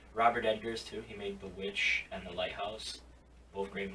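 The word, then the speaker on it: The VVitch: So Vitch. Yeah, yeah. Like, you have to do the most. But it is pronounced The Witch, but it's weird.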